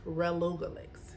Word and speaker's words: relugolix: plus the first one all right relugolix relugolix relugolix is how it's pronounced all right it's used to treat advanced